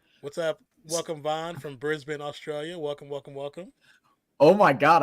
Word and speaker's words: Brisbane: I just learned how to pronounce it correctly. Brisbane.